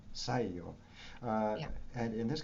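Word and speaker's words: Saigyō: Can you help me on the pronunciation of this ancient writer? His name? Saigyo, Saigyo, Saiyo.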